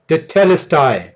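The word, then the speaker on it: τετέλεσται: Tetelestai. टेलेस्टाई, Tetelestai.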